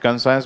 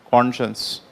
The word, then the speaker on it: conscience: conscience okay not consciousness okay some people will pronounce it concerns but it is pronounced as conscience okay human conscience is the ability of a